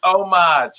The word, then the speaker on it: homage: say it berkey does the h is silent anybody that says homage doesn't even know what they're talking about anyway it's omage you don't say that